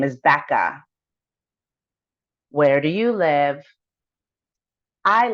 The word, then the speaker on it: Bekah: spell your first name my first name is Becca it's spelled b e k a h and your last name